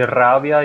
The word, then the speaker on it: rabia: E aí, no português seria uma fricativa, como é rapaz, rato, rasa, e aí acabam levando isso para o espanhol, falando rabia e ratón, no lugar de rabia e ratón.